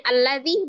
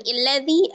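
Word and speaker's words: الذي: dirubah-rubah ya dan eh Alif yang pertama itu itu Alif iwad maka dia diberi harakat fathah dibacanya alladzi bukan illadzi atau adzi karena huruf keduanya adalah lam maka otomatis alifnya berharakat fathah hamzahnya jadi alladzi di Mad thii ada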